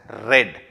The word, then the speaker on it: read: Now, read in the past tense will also be the same spelling, but it will be pronounced as read.